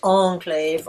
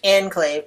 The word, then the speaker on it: enclave: it's surrounded by France the first word is that he says Enclave with a long syllable on the second syllable and in English we stress that on the first syllable either using the French onclave or the English Enclave both of which are acceptable pronunciations so that's one of